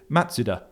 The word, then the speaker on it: Mazda: Uh it's not Mazda, it's Matsuda. Yes, that's how they would say it in in in Japanese. Which can we all start saying Matsuda?